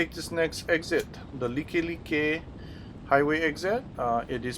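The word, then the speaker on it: Likelike: this next exit the licky licky highway exit it is pronounced Lakai Lakai not like like it is a Hawaiian word if you're going to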